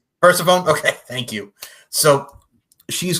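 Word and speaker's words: Persephone: That's how you pronounce it right. Is it Pone? Persafhone. Pphanie. Which one is it? We're persafhone.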